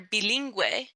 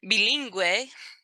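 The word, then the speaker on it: bilingüe: And that U with the two little dots, that tells you that the GU, for example, penguino or bilingue, has a gua sound to it. That's the only time that you will hear the gua sound.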